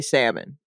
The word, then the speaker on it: salmon: Kirkland Salmon 42 is the L pronounced when you say it as a last name or No, I don't think it's ever pronounced, but that also is it's in the midst of changing. I'm not sure how. Language yeah. evolves, and I think right now so many people are saying the L that I Yeah. think it may actually end up being pronounced, Right. which is I'm still going to say salmon.